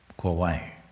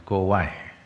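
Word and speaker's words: Kovai: The shorter name in Tamil is Kawai.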